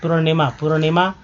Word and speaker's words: पूर्णिमा: उसी तरह देखिए पूर्णिमा, पी, देखिए ये जो र है, पू के बाद उच्चारण हो रहा है, देखिए पुर, तो PUR, पूर्णिमा, तो नी अमानिमा।